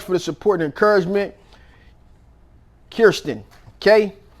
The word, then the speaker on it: Kirsten: Kirsten, okay? I've always wondered, am I saying it wrong, but it's K-I-R, and it's not K-R-I. So Kirsten. All right, so let's see.